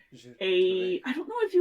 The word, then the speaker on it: Tourette: Giles Tourette's. Tourette. I don't know if he was turn of the century or Victorian, but somewhere in there. So it's probably And actually pronounced Tourette. Tourette, Tourette.